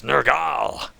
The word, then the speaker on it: Nurgle: And interesting as well, they pronounce Nurgle as Nurgal.